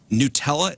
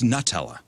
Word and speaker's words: Nutella: this but I think I just found out that Nutella is pronounced we've been saying it wrong the whole time oh great Nutella Nutella no it's so we got into this we say we say Nutella here in America okay but it's Nutella